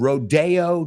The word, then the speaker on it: Rodeo: Houston is the name of the street in New York City, aunque se escriba igual. Me recuerda a otra. The street in Beverly Hills is called Rodeo Drive. But if you go to see cowboys, you're going to a rodeo. Same word, different pronunciation, right?